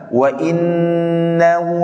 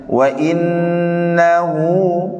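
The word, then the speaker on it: وإنه: Ya, tadi ada beberapa orang yang baca wa innahu ala, harusnya wa innahu ya, dua harokat. Ada waw kecil di situ, maka dibaca dua harokat.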